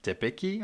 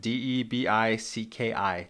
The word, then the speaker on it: Debicki: Another actor playing a big role in this movie is Elizabeth Debicki, I think is how you say it. Debicki. Debicki is how I would say it.